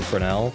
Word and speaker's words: Fresnel: not like that glowy Fresnel he's got on him. I don't know why the S is silent in Fresnel, by the way.